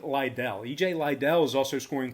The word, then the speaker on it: Liddell: E.J. Liddell, or Little, however you want to pronounce it. I like Liddell.